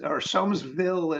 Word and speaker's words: Somesville: We stayed on Somes Sound, so I'm assuming it's Somesville. Somesville is the appropriate pronunciation then.